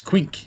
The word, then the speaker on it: Quink: Mr. Clink. It's Quink, if you don't mind.